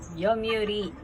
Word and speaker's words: Yomiuri: Magbigkasin ko pang ano yun? Yumi, ano ba yun? Yomirilando. Yumirilando. Yumuriland. Yumiriland. Yumiriland. Yun. Yomiuri.